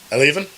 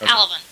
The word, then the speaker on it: Alevan: potatoes to um I'm gonna butcher your name Alan yes no yeah alvan it's it's okay okay